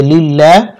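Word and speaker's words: لله: লা ক্লিপ টানতে হবে লিল্লাহ আর এই আল্লাহ শব্দকে বারিক করতে হবে কারণ আল্লাহ শব্দের পূর্বে জের দেওয়া আছে হাজির হি লিল্লাহি ওয়াকফের সময় হা সাকিন হবে উচ্চারণ হবে লিল্লাহ ওয়াল আমরু ইয়াউমা ইদিল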